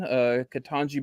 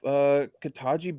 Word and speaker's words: Ketanji: Ketanji Brown was first female African American associate justice appointed.